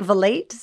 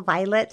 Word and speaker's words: Vilate: It's spelled like Vilate, but I think it's pronounced Vilate, so that's what I'm going to say.